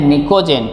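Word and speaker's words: pnictogen: 15 उसको बोलते हैं निकोजन पी साइलेंट है और यह क्यों क्योंकि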